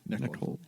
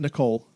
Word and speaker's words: Nickel: Is it Nickel or Neckel? Nickel. Okay. Neck hold. Not Nicole. Nickel.